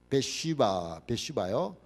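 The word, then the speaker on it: Bathsheba: 밧세바를 영어로 하면 베슈바요.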